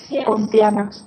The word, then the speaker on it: Pontianak: Now, there's another vampire-like creature, the Pontianak. Is that how you say it? Yes. Pontianak.